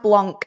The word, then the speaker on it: Blanc: It's pronounced Blanc, you prats.